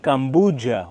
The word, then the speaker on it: Kampuchea: The word Cambodia itself, the name of the country today, also comes from the Khmer language, which is actually pronounced something like Kampuchea, which means the descendants of Kambhu.